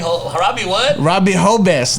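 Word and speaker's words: Jobs: H Robbie what Robie hobz like j o b s but you pronounce the J as H but Robbie hobz from hery so the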